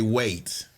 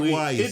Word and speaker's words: Wyatt: We say wait. Yeah, wait. Yeah. Okay, I said it wrong. It do look like Wyatt, so does.